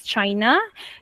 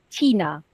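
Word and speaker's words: Cina: So, just now, Miss Amina, you pronounced this as China. No problem. Okay? But, in Bahasa Melayu, we pronounce this as China.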